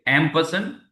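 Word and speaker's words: ampersand: So M person name okay M person it will pronounce like this spelling is like see A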